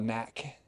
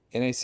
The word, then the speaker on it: NAC: Some people call it knack. That's weird. I call it every time I hear someone say that they take it, they're like, "I'm on knack." And it's like NAC and they're like, "Yes,